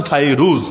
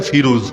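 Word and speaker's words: فيروز: সাহাবী ছিলেন যার নাম ফাইরুজ বাংলা বইয়ে এলেখা ফিরোজ কিন্তু মূল নাম হল ফাইরুজ ফাইরুজ রাদিয়াল্লাহু আনহুকে চিঠি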